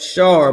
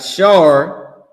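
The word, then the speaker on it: שר: We got Shar, which they saying is Sar, but we don't even use their pronunciation anyway.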